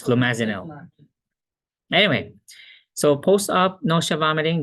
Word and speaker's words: flumazenil: Flumazenil. Okay, flumazenil. Or no, you combine romazicon and flumazenil. No, flumazenil is the generic. Romazicon is the brand. I think you said you said flumazicon. Flumazenil. Okay, it's flumazenil.